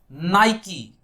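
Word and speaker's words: Nike: लेकिन ध्यान से देखें इसकी प्रोनाउंसिएशन होती है नाइकी। The correct pronunciation of this one इज नाइकी।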